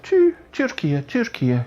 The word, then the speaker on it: Türkiye: It's kind of not full blown U, but more kind of Türkiye, kind of relaxed, not so ooey.